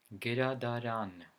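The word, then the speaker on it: գրադարան: For example, the word library. In Armenian, it's pronounced gradaran. The stress falls into the last syllable.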